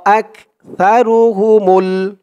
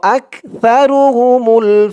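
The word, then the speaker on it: أكثرهم: মুমিনুনা মিনহুমুল মুমিনুনা ওয়া আকসারুহুমুল ওয়া আক হামজা দিয়ে কাফ ধরবে আক ওয়া আকসারু সার উচ্চারণটা একদম নরম পাতলা হবে, জিহ্বার মাথা উপরের দাঁতের মাথার সাথে লাগবে সার উচ্চারণটা করার সময়।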